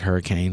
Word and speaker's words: Hurricane: Is that spelled like hurricane? It's Yeah. just pronounced hurricane. Hurricane.